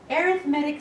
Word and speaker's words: arithmetic: And yes, that is pronounced arithmetic. It's interesting, if you were just talking about that one word, you could say arithmetic. But when you add it to the word sequences, you can't say arithmetic sequences. It's arithmetic sequences.